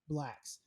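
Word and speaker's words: Blxst: After a while, I was like, it's like Blacks or Blick. I never can remember how he pronounces his stage name. Blacks.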